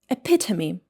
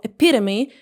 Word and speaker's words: epitome: H, it should be epitome in British English or epitome in American English.